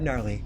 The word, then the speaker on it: Gnarly: about your old pal the silent g rad gnarly saying so long for